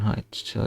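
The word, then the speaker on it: heute: কারণ এস এর সাথে যদি এ ই আই ও ইউ থাকে বা ভাওয়েল থাকে, সেটা জয়ের মতো উচ্চারণ হয়। তো এই জন্য হয়েছে জাউবার, এই যে আউটা আসছে মাঝখানে।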